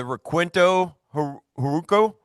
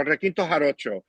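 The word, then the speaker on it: requinto jarocho: the guitar the the I'm probably going to butcher the name the Rquinto horo. Oh the rakinto uh the yeah the the rakinto haro and and it that's that's an instrument from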